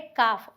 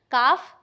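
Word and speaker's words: calf: को बोला जाता है काफ और इसकी दो प्रोनंसिएशन हैं काफ दूसरा कैफ ठीक है कैटरीना कैफ नहीं है बट याद कर सकते हैं ऐसे आप सो काफ बोलेंगे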